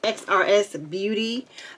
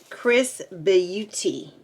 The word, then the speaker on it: XRS Beauty: this is the box at first i thought it was xrs beauty but they pronounce it chris beauty yes make sure i'm